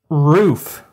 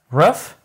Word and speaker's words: roof: divers or two they roof three rough roof ruff no I'm not going to dignify your folksy pronunciation ruff okay so we got